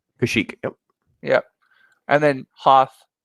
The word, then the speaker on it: Kashyyyk: So this one was from the how do you pronounce it? Kashyyyk. Kashyyyk.